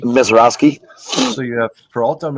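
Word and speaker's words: Misiorowski: Mizarowski. Mizarowski.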